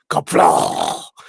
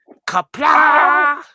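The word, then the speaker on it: Qapla': It's like kapla, kapla. It's like it's pronounced A-G-H, right? K-A-P-L-A-G-H, right? That'd be kapla.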